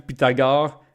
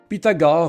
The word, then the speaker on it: Pythagore: onevait aus commandes rapidement Pythagore vient au monde sur l'île de Samos en Grèce d'ailleurs son nom on devrait probablement prononcer comme putagoré et là je me